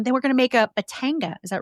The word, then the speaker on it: Batanga: bio and um then we're gonna make a Batanga is that right this is the drinka yes